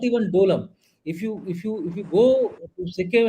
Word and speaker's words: Doklam: It is only now, after Dolam or Doklam, I always call it as Dolam because the name is Dolam.